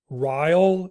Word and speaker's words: Ryall: of the podcast today my guest is rile is am I pronouncing that correctly yes that's right David okay